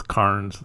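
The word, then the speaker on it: cairns: are a little harder those KS pronounced K uh sometimes you can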